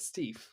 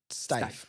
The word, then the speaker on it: Steiff: So I want to introduce you to Margaret Steve. Stife. Margaret Stife. Steiff.